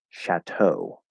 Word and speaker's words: chateau: And so it's probably going to sound similar to the French pronunciation, but we pronounce it chateau. Chateau. So it's well, oh my God. Chateau. So it actually sounds a lot like shadow.